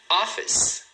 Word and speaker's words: office: Office, office, né? O escritório é office, 2 sílabas.